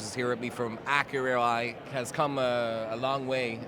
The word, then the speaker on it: Accurai: So we have a few different pronunciations around the world at this point. Accurai is sort of what I say. The French go for Accurai, the Brazilians go for Assurai, so pick your...